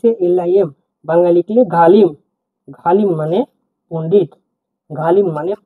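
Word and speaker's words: ғалым: জি এইচ এ এল আই এম বাংলায় লিখলে গালিম ঘালিম মানে পন্ডিত গালিম মানে পন্ডিত পরবর্তী শব্দে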